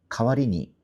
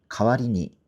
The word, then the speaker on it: 代わりに: 카와리니 이거는 요렇게 읽으시면 좋아요. 카는 좀 낮고 와리니가 높아요. 가와리니 가와리니 이렇게 읽으시면 돼요.